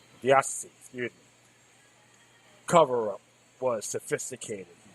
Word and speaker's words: diocese: The abuse scared every dossier. Or deal the dossier? No, not dossier. Excuse me. I've been mispronouncing it. Diocese.